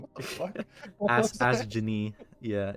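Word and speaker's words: Astgenne: I've always pronounced it as Astgen. Asken? Yeah. Damn. Yeah. My pronunciation being the problem. I was like, bro, who has an H in their name? What the fuck? Ask Ginny.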